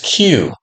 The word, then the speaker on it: Cue: The name of the company is Q, spelled CUE, pronounced the letter Q.